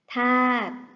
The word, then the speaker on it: ธาตุ: สาเหตุ อ่าน ว่า สาเหตุ ธาตุ อ่าน ว่า ธาต เกต อ่าน ว่า เกด